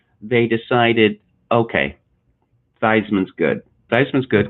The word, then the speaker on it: Theismann: it was it was feastman but then when he was in the running for the heisman trophy they decided okay weisman's good diceman's good because it rhymes with heisman and so since then